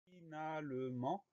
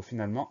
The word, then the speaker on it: finalement: Le son en s'écrit E-N, et à la fin du mot, on a une lettre muette, le T.